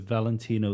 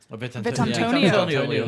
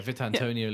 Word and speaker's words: Vitantonio: Valentino Liuzzi. Vitantonio. Oh, is it? Neither of you. Is that how you say it? Is it? Yeah, Vitantonio Liuzzi.